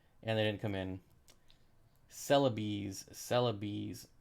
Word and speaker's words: Celebes: I keep saying celebs, but apparently it's called celeb. How do you pronounce it? Celebes. Apparently it's pronounced celebes, but I say celebs.